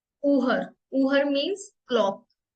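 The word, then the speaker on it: Uhr: देखो ये वर्ड है इसको हम बोलेंगे उहर उहर उहर नॉट यू हर उहर double O ना डबल ओ को हम साउंड आती है उ उहर उहर मींस क्लॉक ी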